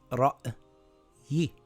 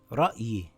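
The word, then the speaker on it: رَأْيِ: It reads ra'yi. Ra'yi.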